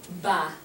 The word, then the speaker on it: bas: Okay, so en bas, the S is silent here.